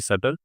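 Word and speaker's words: subtle: एस यू बी टी एल इ बी यहां पे क्या रहेगा? साइलेंट रहेगा हमेशा स्पेलिंग क्या होगी? सेटल एस यू बी टी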